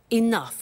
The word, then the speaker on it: enough: doesn't have enough money now this word enough enough it's written e.e.n.o you G H the pronunciation is enough what does it mean let